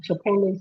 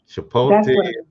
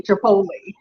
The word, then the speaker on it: Chipotle: chipot Chipotle I say Chipotle oh chipot yeah oh I have to try that one yeah I say Chipotle that's how I pronounce it so I got a